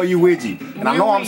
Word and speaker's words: Luigi: u i GI I that's how you spell uui and I know I'm saying it right because